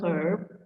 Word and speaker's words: herb: Kalau yang sini an hour ada huruf H-nya tapi bacanya hour dimulai dengan vokal. Yang a herb berawalan H tapi tetap bunyinya H.